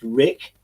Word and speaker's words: RHIC: Now, RHIC, pronounced Rick, okay, science thing, had